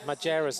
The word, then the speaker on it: Majerus: were pronouncing it right so she said maer she says Majerus is how you pronounce my name she's a Luxembourg Champion